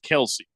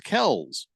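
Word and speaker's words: Kelce: for the brand they should probably stick with Kelsey but technically we've been saying the name wrong it's Kell's who knew yeah it's almost as weird as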